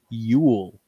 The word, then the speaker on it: Yule: straight they called it yule which is pronounced the same as the word for christmas in norway today you spell like like